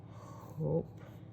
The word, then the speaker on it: hope: i'm you can say i hope hope silent e it i t reigns